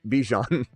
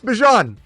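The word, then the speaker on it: Bijan: He says it's not a big deal, but my name's not Bejon. how you he goes I don't care how people pronounce it but you pronounce it Bjon Bjan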